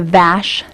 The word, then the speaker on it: VASH: all on camera that's great um uh the Vash um veterans assistants supportive vouchers am I saying